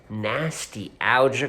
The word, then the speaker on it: Nastylgia: predictions for the trenches nasty algae card I believe it's supposed to sound like Nostalgia it's not spelled like it uh no but we